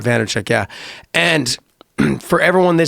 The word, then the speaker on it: Vaynerchuk: Vaynerchuk, yeah.